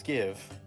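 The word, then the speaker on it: Gieve: Take's sister is Give. I would laugh Please. so hard. Please. But it's please. spelled like super weird.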